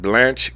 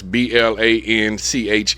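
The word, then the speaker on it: Blanche: It's B L A N C H E. I said Blanch. Blanch.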